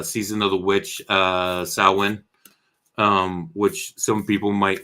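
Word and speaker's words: Samhain: one is uh Season of the Witch uh salwin um which some people might know selling you might think it's pronounced Sam Hanks um but it's actually sauwin and the uh Gaelic foreign and that is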